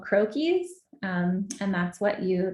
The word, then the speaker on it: croquis: right in illustrator um there are things called croakies um and that's what you they're like little